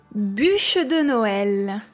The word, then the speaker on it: Bûche de Noël: Bûche de Noël.